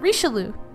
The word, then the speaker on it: Richelieu: little twist right there i can't do it rishalu there you go we'll say it like that cardinal richarloom so cardinal richelieu was